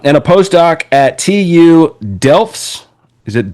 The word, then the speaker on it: Delft: Um and a postoc at TU Delfts. Is it Delft?